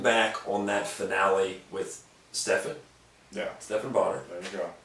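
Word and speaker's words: Stephan Bonnar: Did you ever, when you're looking back on that finale with Stephan Bonner, There you go. correct pronunciation.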